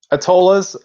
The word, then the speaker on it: Atollas: going to be talking atolus uh did i pronounce that right atollas um yeah you did great oh awesome i